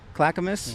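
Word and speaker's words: Clackamas: Tri County is Washington Clackamus. Is that how you say it? Yeah. Clacamus.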